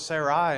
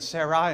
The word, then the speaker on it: Sarai: Well, it's still pronounced Sarah, or if you want to make it really technical, it's Sarai and Sarah, but it's still pronounced Sarah.